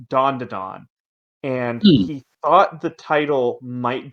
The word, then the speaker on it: Dan: I liked that um so the title is actually pronounced Dawn and he thought the